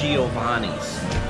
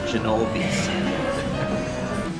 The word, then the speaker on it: Giovanni's: I think I always mispronounce this. This is Giovanni's. I think I always call it Genovi's.